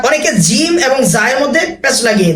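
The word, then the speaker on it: ج: অনেকে জিম এবং জায়ের মধ্যে প্যাচ লাগিয়ে দেয়, জিমকে বলে জিম আর জাকে বলে যা।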